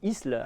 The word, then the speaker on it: Isle: l'Isle sur la Sorgue, mais qui s'écrit, que nous prononçons ici Isle.